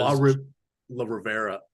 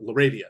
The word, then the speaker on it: LaRavia: So the question was La Rivera. I don't even know that. LaRavia is LaRavia.